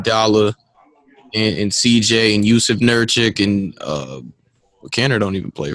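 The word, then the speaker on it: Nurkić: So It was Nurkic. Nurkic, there you go. Yusuf Nurkic. Excuse me for saying your name wrong.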